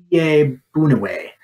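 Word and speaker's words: Iyiegbuniwe: yay booing away I I looked up the pronunciations yay Boone away linebacker out of Western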